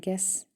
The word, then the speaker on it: guess: you hear is silent and guess also has a silent you match each word with